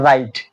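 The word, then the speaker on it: write: রং র‍্যাপ এই ধরনের তাহলে ডাব্লিউ এর পরে যদি ডাব্লিউ এর পরে আর হয় তাহলে দেখুন ডাব্লিউ এই ডাব্লিউ টা উচ্চারিত হচ্ছে না দেখুন ডাব্লিউ টা উচ্চারণ রাইট ডিরেক্ট এই ডাব্লিউ টা উচ্চারিত হচ্ছে না দেখুন ডাব্লিউ ছাড়াও কিন্তু রাইট হচ্ছে এখন রাইট ডাব্লিউ ছাড়াও কিন্তু রাইট হইছে রং র‍্যাপ এগুলো উচ্চারিত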